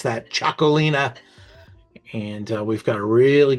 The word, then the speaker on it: Txakolina: This is called Cholina. That's how you pronounce that. Cholina.